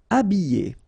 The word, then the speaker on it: habillé: Habillé, okay, remember I, double L, and then a vowel, Y, Y. Habillé. H is not pronounced.